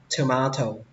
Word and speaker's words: tomato: Các bạn đọc nhẹ lưỡi ra, thờ nó ra, tomato. Xuống giọng âm đầu tiên và lên giọng âm thứ hai, tomato.